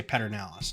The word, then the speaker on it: Pedernales: Everyone's like, there's no there's no R in the beginning of that. And everyone's like, yep, that's just how you pronounce it. It's like, okay. But then you find some people who say Pedernales now, and it's different.